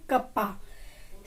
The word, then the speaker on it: cuppa: कप ऑफ को short में बोलते हैं कप्पा, CUPPA। क्या बन गया? कप्पा। कप ऑफ होता है एक कप चाय, कप ऑफ टी।